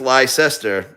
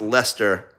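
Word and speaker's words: Leicester: So, Stephanie says, "Lie Cester." Okay. All great guesses. You want to know what how it's really pronounced? It's pronounced Lester like L E S T E R.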